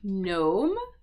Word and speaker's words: gnome: We also see that in words like gnome, for example, as well, which is like a little sort of mythical thing I had, but the G is always silent in these words.